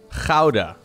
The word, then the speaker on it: Gouda: Oh yeah, I did teach you guys how to pronounce Gouda. Gouda.